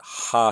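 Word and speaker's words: ὁ: sin here so we have nominative singular and that would be in Greek the transliteration would be ha the H is the equivalent of the rough breathing mark makes that ha sound if I were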